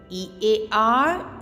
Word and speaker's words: ear: E-A-R, ear. Children, don't give stress on letter R. Okay? It's ear.